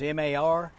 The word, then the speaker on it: mar: And if you did it backwards, M-A-R, that's Spanish for sea, like the sea, the ocean, sea. Mar. You roll your R. Mar. Well, you don't have to on a single R, no.